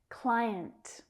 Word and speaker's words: client: Client. Need to be careful with these vowels here. A lot of my students say client, client. So we have 2 syllables.